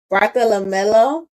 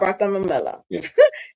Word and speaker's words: Bartolomeo: Bartolomeo. It's not Bartolomeo. It's Bartolomeo.